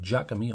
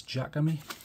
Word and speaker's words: Jakemy: promise this time of the Jacob me or Jacob me however you want to pronounce that I think it's Jack of me so I'll show you